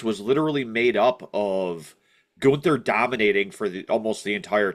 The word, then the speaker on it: Gunther: How do you have Gunther, I'm sorry, in the honor of how they pronounce it, Gunther, lose to a single crossroads?